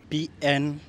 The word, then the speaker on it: pneumonia: That P is silent.